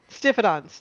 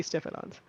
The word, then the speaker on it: Stiphodon: No, but Hey, like pronunciation wise, yes, that is an I. It's probably Stiphodons.